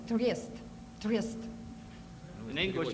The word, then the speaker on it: Трест: mispronounce the word, it's trest.